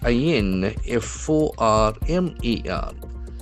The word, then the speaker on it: informer: I N F O R M E R. So that is a very important noun. Informer. Informer. The accent falls on the second syllable. There are three syllables.